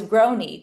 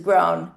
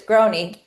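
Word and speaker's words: Grohne: And so the last name uh was Groy. G R O H N E. Um it was hard to pronounce. So you always knew when a telemarketer called if they asked for Mrs. Groan.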